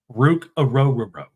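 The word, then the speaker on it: Ruke Orhorhoro: tackle from Clemson and it's always just funny you almost sound like you're saying his name wrong Rook aoro that's his name defensive tackle from Clemson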